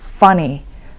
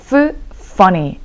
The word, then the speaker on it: funny: 항상 여러분 F 발음 확실하게 해주셔야지 funny 라고 하면 역시나 못 알아듣습니다. funny가 아니라 funny. funny.